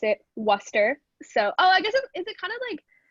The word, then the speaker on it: Worcester: I did not know that you pronounced it Worcester. So, I guess is it kind of like that sauce? Like yeah, like Worcester?